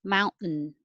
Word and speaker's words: mountain: mountain mount hold it and make a noise mountain it has to have enough to have make it sound like two syllables mountain and 28 don't pronounce the ot